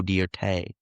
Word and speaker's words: Dirt: If you've seen the movie, it's pronounced Deay. It's Joe Deert.